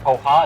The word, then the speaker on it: poha: So this is actually, I think it's pronounced poha. It's like P-O-H-A.